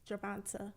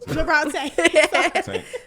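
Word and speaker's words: Gervonta: boxers' hair, Adrian Bronner, and then Javonta. I always mess up. Javonte. That's how it look like it's supposed to be.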